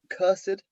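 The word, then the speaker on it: cursèd: Easily saw the ED, the little accent on the E there. Knew what it meant. Cursed.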